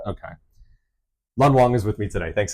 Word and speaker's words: Lun Wong: I didn't double check to make sure that's the correct pronunciation. Yeah. Lun Wong.